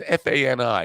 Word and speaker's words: Fani Willis: Fani Willis, however you pronounce her name, it's Fani. It sounds like Fanny. Take a load off Fanny, but people call her Fani.